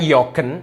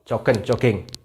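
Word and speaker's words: joggen: Ini bukan jogen, tapi jogging. Hihi.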